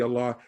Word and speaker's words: Allah: dialect how it's pronounced it makes no difference what language you're in to say allah you have to say allah as it is in arabic so if you speak